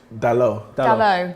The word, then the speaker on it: Dalot: Dalot.